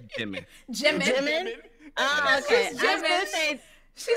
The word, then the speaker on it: Jimin: Did you say Jimin? Right, anime. Jiminin? We could check like Gemini, but Jiminin? Yeah. Not the Minin. Wait. It's Jimin. Jimin? Oh, okay. She said Jiminin.